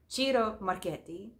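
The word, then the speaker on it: Chiara Marchetti: I think I still remember Raphaela's pronunciation lesson from last year. Chiro Marquetti. I think it is stuck in in my brain now.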